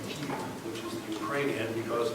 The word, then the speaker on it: Kiev: I have trouble saying Kiev, which is the Ukrainian,